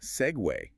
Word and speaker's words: segue: Usually English words ending in goo, like vogue, vague, or league. They rhyme with beg, right? But segue is pronounced segue.